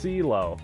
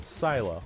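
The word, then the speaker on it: Sealo: them filo Selah oh it's pronounced seal oh okay I was thinking silo okay see well can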